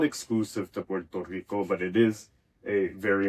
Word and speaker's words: Puerto Rico: That becomes a L sound. So Puerto Ricans will famously say Puerto Rico instead of Puerto Rico.